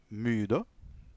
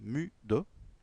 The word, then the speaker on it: müde: Donc, ich bin sehr müde, müde, müde, fatigué. Donc, on prononce toujours le E à la fin, hein, müde.